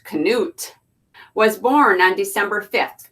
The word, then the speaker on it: Knut: name is Knut and is his story Knut pronounced Knut was born on December 5th 2006 at the